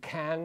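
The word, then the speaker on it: Caen: away from Paris to can or con depending which pronunciation you use and there he had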